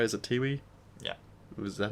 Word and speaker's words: Tiwi: or so, and then he went back to Tiwi Islands. I think I'm saying that right. Is it Tiwi?